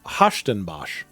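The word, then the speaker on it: Huis Ten Bosch: It's called Hashtenbosch. It's not spelled at all like you would think it was based on how it's said. And that's because it's Dutch.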